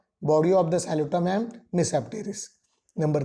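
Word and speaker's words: Tmesipteris: Okay, here T is silent, Mesopteris.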